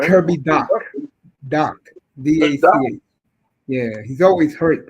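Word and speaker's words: Dach: I can't pronounce his name. Kirby Doc. Doc.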